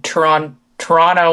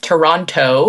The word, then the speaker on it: Toronto: Well, I'm from Canada, and I live in Toronto, Ontario is how the locals say it. Toronto is how everybody else says it.